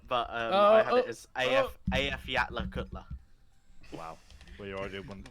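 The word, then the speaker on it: Eyjafjallajökull: I'm not sure if it's accurate, but I had it as AF Yatla Kutla.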